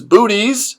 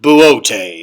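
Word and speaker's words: Boötes: Perseus versus Cetus, Big Bear versus Booties. It's pronounced Buotes.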